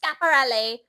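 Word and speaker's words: Schiaparelli: And I said," she goes, "It's actually pronounced Scaparelli."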